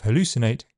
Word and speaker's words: hallucinate: In keeping with its meaning, the pronunciation of hallucinate can change quite a lot. It's a word that starts on a glottal fricative and ends on an alveolar t in standard English, but in regional accents, it could easily begin and end on glottal stops.